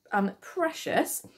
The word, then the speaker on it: precious: So precious. Now, this worth noting, the spelling, if you listen to that precious, it's got that shus sound at the end.